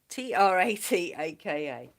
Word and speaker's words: trataka: a go uh it's spelled k-h-i-n -i-n kinin is spelled t I was going to say chat and track AKA what t-r-a-t-a-k-a trataka um even just normal walking yes if